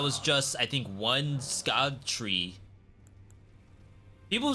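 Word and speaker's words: Scadutree: just I think one Scot tree people say it's actually pronounced Shadow tree like the C is pronounced as an H it's very very weird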